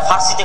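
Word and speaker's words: فارس: আর পারস্য হচ্ছে ইরান, যারা ফার্সিতে কথা বলে। আমরা পারস্য বলি, আর এটা ফার্সি, ফোর্স। আরবিতেও ফারিস নামে তাদের কথা এসেছে, আরবিতে কোনো পর উচ্চারণ নেই, সব ফারিস।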